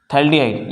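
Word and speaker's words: phthalaldehyde: एंड इसके याद रखो इसके नेम होते हैं थैल्डिहाइड, PHTHALD, थैल्डिहाइड। ये थैल्डिहाइड में आपका पीएच क्या है, आपका साइलेंट है, ठीक है।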